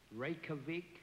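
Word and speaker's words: Reykjavík: one great favor and tell me how he pronounces the capital of Iceland ravik ravik yes you said quite well r r r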